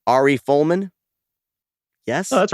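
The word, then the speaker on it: Ari Folman: this is a film directed by i'm gonna butcher the name arie fullman yes oh that's right yeah you got it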